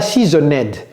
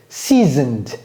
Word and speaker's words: seasoned: Ce n'est pas seasoned. Seasoned. Is Kojo not a seasoned coach?